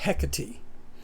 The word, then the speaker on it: Hecate: And the way the Greeks on the island of Cree pronounce it is hecati. So that is how I learned how to pronounce it.